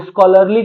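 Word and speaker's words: scholarly: लगा देना अब देखिए स्कॉलरली क्या हो गया स्कॉलरली हो गया यह एच है भाई स्पेलिंग पर मत जाइएगा स्कॉलरली एडजेक्टिव है और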